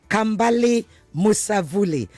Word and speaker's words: Kambale Musavulli: His name is Kambale Musavulli. Kambale, did I pronounce that correctly?